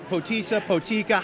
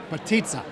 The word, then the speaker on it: Potica: All right, Mayor Ray Solomon and his wife, and Potica, how do you say it? Patitsa. Patitsa.